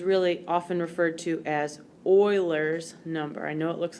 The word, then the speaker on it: Euler: and this is really often referred to as Euler's number I know it looks like uhler but it's pronounced Euler Euler's number so unfortunately there is